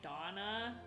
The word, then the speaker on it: Dana: spelled a d-a-n-a but it's actually pronounced more like donna like we would pronounce